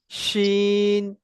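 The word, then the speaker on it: شين: শিন, জি। ইয়া। দেখবেন আপনি উচ্চারণ করবেন জিম, সিন, ইয়া, জিম, শিন, ইয়া।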